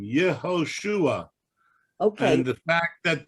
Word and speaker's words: Yehoshua: Why is on Joshua, is it pronounced Yeshua? Yeah. And what? Because that's his Hebrew name, Yehoshua.